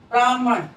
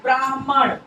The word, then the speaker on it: ब्राह्मण: तो बहुत ज्यादा गलत ब्राह्मण होता है ब्राह्मण होता है ब्राह्मण बोलने में उसके अंदर साइलेंट रहता है हल्का सा सुनाई पड़ता है बहुत ज्यादा गलत